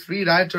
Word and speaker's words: শ্রী রায়চর: কিন্তু আমরা দেখতে পাচ্ছি শ্রীরাচরের ব্রিজ শ্রী রায়চর আর কি মূলত সঠিক উচ্চারণটা এবার আমাদের পালা হচ্ছে আমাদের